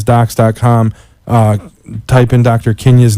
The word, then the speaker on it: Kindya: Kenya's name so the D is silent it's ki and dy